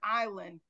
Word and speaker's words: island: And every time I read or see the word island, my teacher said I was incorrect in the enunciation of island because we were studying silent letters.